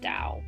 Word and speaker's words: Tao: I think it's probably actually pronounced Dao, but it's T AO.